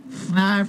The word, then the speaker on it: Fnarf: Fnarf rhymes with barf.